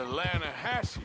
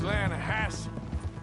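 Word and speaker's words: Lannahechee: You mean the Lanahatchee River? No. The Lanahatchee. It runs right near here. Yeah, but it's pronounced Lanahatchee.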